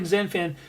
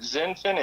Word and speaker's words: XinFin: when so folks when when he's talking zenfin spell that for them so zenfin is x i n f i n and so that is